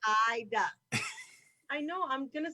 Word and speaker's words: Aida: Haida. Okay, I'm gonna say Haida. Haida. A-I-D-A. The A is silent. Ida.